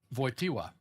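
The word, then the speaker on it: Wojtyła: So the J is pronounced like a Y and the L with the little uh diagonal through it is a W sound. So it's voya voya. The t w is voiwa.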